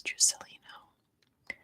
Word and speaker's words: Juscelino: It's Portuguese. It doesn't have the silent J. It's Juscelino. Oh, you're right, DR.